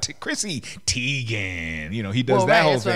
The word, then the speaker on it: Teigen: a long time ago last name is tigon not Teigen right so and that